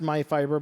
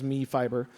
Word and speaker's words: MyFiber: So, MyFiber, and I believe it is pronounced MyFiber, but for a while I wasn't sure if it was MeFiber.